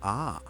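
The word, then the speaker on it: ʻaʻā: The second type of basaltic lava is called ah pronounced ah.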